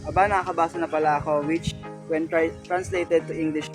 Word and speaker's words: ABNKKBSNPLAko: that autobiography long title is meant to be read phonetically as Aba Nakakabasa na Pala Ako which when translated to